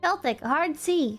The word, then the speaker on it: Celtic: Celtic, hard C.